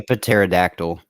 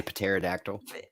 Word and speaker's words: pterodactyl: So, and I was like, I was like, the P is silent.